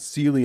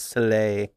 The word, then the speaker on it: Soleil: It's not Sealy, it's Soleil.